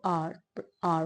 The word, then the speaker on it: our: बहुत सारे बच्चे इससे ना बोलते आर आवर बोलते हैं, आवर करेक्ट प्रोनाउंसिएशन नहीं है गाइस, इसको आर फॉल्ट बोलेंगे, आर।